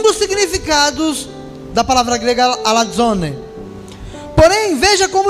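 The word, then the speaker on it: ἀλαζών: significados da palavra grega alazone. Porém, veja como o dicionário de Strong, ele define essa palavra. Alazon, o Z é pronunciado DZ, tá, no grego. Alazone, vagabundo, portanto um impostor, fanfarrão, né?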